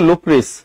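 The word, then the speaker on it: Lucrece: ঠিক আছে আর এটা লুক্রিস ওইটার উচ্চারণ কিন্তু লুক্রিস ঠিক আছে পরিচয় আমি রাতুল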